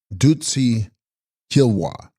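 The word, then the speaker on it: bDud-rtsi 'Khyil-ba: Text Dudritsi Hikilva, pronounced Dutsi Kilwa, Sanskrit Amrita Dara, he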